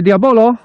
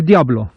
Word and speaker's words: Diabolo: mówię wśród Poproszę ślub Diablo już wiedzą na bazarku o co chodzi więc teraz takie potoczne Diablo nie pisze się Diabolo a on mówi się na bazarach Diablo dobra dobra pompujemy raz